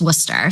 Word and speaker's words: Worcester: She is the Assistant Director of Admissions, but for everyone out there, it's also fondly known as WPI, even though it's pronounced Worcester.